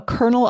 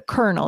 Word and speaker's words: kernel: Before you put it into the microwave to make it a piece of popcorn, it's a kernel. It's a little seed. And that's pronounced the same way, isn't it?